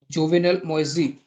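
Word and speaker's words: Jovenel Moïse: है जुलाई 2021 से जुलाई हेटी के प्रेसिडेंट जोवेनल मोइजी उनको अससनेट किया जाता है उनके घर के ऊपर ही तो इनके स्पेलिंग आप लिख लें जे ओ वी ई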